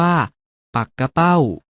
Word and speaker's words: ปักเป้า: ๆ เห็น อยู่ นี้ ถึง แม้ จะ เขียน เหมือน ปักเป้า แต่ ออก เสียง ว่า ปัก กะ เป้า หมาย ถึง ชื่อ ปลา